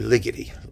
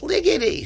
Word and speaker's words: Ligeti: them the getty it rhymed with spaghetti but then people yelled at me and said no it's ligety so all right ligety whatever you want to say maybe he just didn't want it to rhyme with spaghetti but i was right